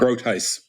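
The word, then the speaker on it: Groothuis: George Grant, another show with our friend Doug Grotheist. That's the right way to pronounce it, isn't it? Grotheist.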